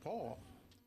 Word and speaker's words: Pool: We thought it was Pool, but it's Paul, spelled P-O-O-L, pronounced Paul.